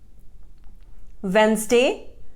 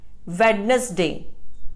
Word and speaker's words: Wednesday: tomb B is silent Wednesday it is mispronounced as Vadnais d the correct pronunciation is wednesday women it is commonly